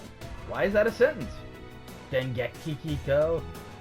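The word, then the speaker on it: Dengekiko: Dengeki Kiko? I know it's pronounced Dengekika, but it's just a meme.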